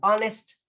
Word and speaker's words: honest: Kasi like what I've said, yung letter H may silent letters po siya na hindi natin binabanggit yung H, but yung O ng honest, yung O ng hour, yung E ng air, and then O ng herb.